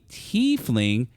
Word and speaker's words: tiefling: who originated there a t fling and they actually have it here pronounced t fling thank you yes is